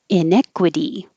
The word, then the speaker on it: inequity: make a z slides inequity and i put two ways to envision this because i just put in e the vowel like head but it's it could sound like neck inequity inequity so maybe that